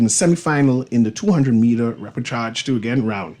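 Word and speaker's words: repêchage: Is going to put her best foot forward in the 400 meter how you pronounce that? Repechage? Yeah, repechage. French Yeah, that's word.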